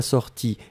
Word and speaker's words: sortie: Que je sois sorti, I masculin, que je sois sorti, IE féminin, on prononce de la même façon.